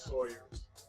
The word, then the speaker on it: Sawyer's: Some people pronounce it Sours. It was Sawyer's in Chicago.